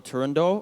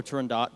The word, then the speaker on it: Turandot: First off, so this is Nessun Dorma from the opera Turandot or Turandot, depending on how people pronounce it, by Puccini.